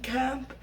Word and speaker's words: Caamp: But I also like the band Camp, and that is spelled CAAMP, and I like the Lumineers.